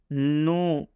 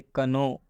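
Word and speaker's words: know: नो, बचपन में हम लोग इसको पढ़ते थे कनो। बात समझ में रहे ना। तो अब हम इसको के नहीं पढ़ेंगे, इसलिए के बाद एन आएगा तो के का उच्चारण नहीं होगा।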